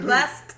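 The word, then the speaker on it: Blxst: When I told her how to spell it, I was like BLAXT. I'm like, Blast.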